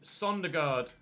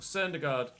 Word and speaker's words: Søndergaard: Sondergaard. Or Søndergaard. Søndergaard. I'm trying to get my Danish pronunciations right.